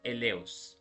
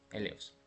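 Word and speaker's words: ἔλεος: en la pantalla y en griego esta misma palabra misericordia se dice el Leo e l e o s elos este vocablo jesed que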